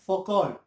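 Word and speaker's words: Foucault: Okay, इसको देखने वाले सबसे पहले थे फौकॉल्ट, नाम थोड़ा सा अजीब है, इट्स प्रोनाउंस्ड एज फौकॉल्ट।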